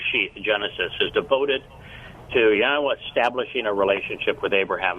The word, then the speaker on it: Yahweh: Hays repeated twice and the only thing you add is they they owed which is the Y which is pronounced the same way it is in English so it's yahwah very easy to pronounce